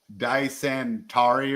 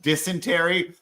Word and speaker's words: dysentery: they didn't even get they didn't even say it right. It was like dyenturi or something. I'm like dysentery.